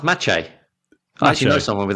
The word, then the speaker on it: Maciej: And when he speaks what to do you mean it's spelt Masij? Exactly. How are you spelling that? Exactly. Maceij. That's Maciej.